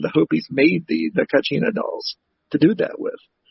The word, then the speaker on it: kachina: had their uh oh god if i could pronounce it right it's k-a-c-h-i-n-a kachina so if i'm mispronouncing that i know